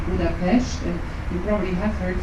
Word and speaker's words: Budapest: we don't say Budapest, you have to shh a little bit, so it's Budapest. That is the original name, or that's the original way to pronounce the city here.